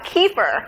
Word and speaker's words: kefir: pronunciation by the way because I've said keeper right yes and when we really looked it up its kefir like tomato tomahto so if you see